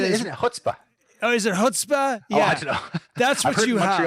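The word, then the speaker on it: chutzpah: over there which i really liked which is cutspa and that is that isn't it oh is it hutzpah yeah that's what you actually all i don't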